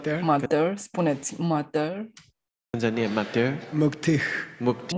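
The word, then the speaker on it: मुक्तिः: 现在有一个很不好的习惯, they mispronounce this. 就把它误读了, pronunță greșit. They say muktiha. Ei spun muktiha. Shantiha. Shantiha. It's a mistake.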